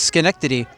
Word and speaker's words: Schenectady: I want to say that right, folks, because you got the CH in there at the top, but the H is silent. It's Schenectady.